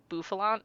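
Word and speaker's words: Bouffalant: I also remember that this was the like that the bof buffalant, that's how you say it, was like the um North American exclusive Pokemon on Pokemon Go.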